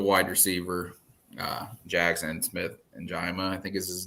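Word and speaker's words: Njigba: As much as I would like the wide receiver, Jackson Smith and Jima, I think is his name. Is that how you pronounce it? In Jigba.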